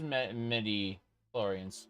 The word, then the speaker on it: midi-chlorians: It's not MIDI like the keyboard though. Let's see, it is spelled... No, it is midi-chlorians. Huh. Let me see. Like a MIDI keyboard.